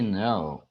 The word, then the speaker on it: know: Does she know? Do jeito que está aqui, ó. Know. O K é mudo, é o verbo saber.